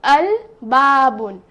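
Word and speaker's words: الباب: the letter la so i will pronounce it as al babun but when it comes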